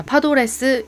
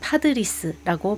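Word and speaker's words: Padres: 자, 파도레스, 이것은 한국에서는 파드리스라고 발음을 합니다.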